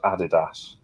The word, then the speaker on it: Adidas: I knew this was going to come up at some point because of your American heritage, Steve, but it's pronounced Adidas.